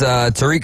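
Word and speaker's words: Tarik: Tarek Skubal with the Detroit Tigers, if I pronounced his name correctly. It's Tariq Skubal.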